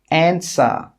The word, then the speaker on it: answer: Who, whole, answer, sword, to. In all of these words, we're not pronouncing the W, it's silent.